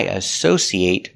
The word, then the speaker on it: associate: Now, what if it's not a verb? Associate. It, making that short sound at the end, it.